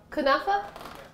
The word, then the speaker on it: kunafa: kanafe or kunafe ham what's the proper pronunciation for kanafe kunafa that's what we're going to